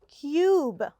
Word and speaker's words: cube: no it sounds different so cub has a short u and cube has a long u with an e in the end okay now we're ready